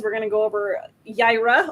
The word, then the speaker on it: Yaira: we're to go over jaira oh i said it right i'm proud of myself i keep i think i was i kept saying like era or something like i